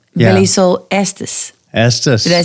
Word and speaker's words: Estes: Estes.